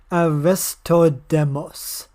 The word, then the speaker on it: Aristodemus: I can't pronounce the I'll just say it for you. Aristodemos.